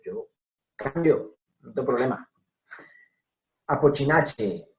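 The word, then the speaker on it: Apocynaceae: Apochinache, araliache, viñoniache, etcétera, etcétera, etcétera. ¿Bien? Miren, todo esto es che.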